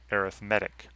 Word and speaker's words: arithmetic: looks like the word arithmetic and it is the same spelling but in this context in the context of a sequence it's pronounced arithmetic so in an arithmetic